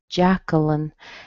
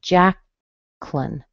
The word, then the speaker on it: Jacqueline: In this case, you would squeeze out the little vowel sound in the middle. So you would end up with Jacqueline, and then it would become a two-syllable word.